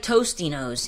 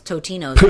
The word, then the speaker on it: Totino's: don't even a word it's like toasty nose even though it's Totino's yes this whole time my whole life I thought I've been saying it right but it's been wrong it provides excellent impact